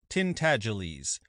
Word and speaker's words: Tintagiles: The name is pronounced Tintagiles, but as most people would not take the trouble to pronounce it correctly, they called him Miggs for short.